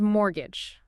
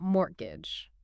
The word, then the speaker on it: mortgage: The T's is silent. So it's mortgage, not mortgage.